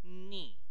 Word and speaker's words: knee: ะ ค รั บ K is silent no sound whatsoever so you pronounce the N word knee อั ศ วิ น